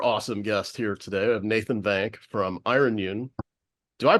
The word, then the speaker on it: Nathan Vank: have a super awesome guest here today have Nathan van from Iron Yun do I pronounce that right I always ask on this